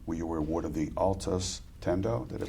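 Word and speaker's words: Altius Tendo: Um, you were a distinguished graduate of the Coast Guard Chiefs Academy where you were awarded the Altus Tendo. Did I pronounce it right?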